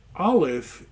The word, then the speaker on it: aleph: bait gimmel dalit hey so the aleph is really a silent letter or it's just that very small letter that you make when you say like honor or something it's just a very slight uh glottal stop um the name aleph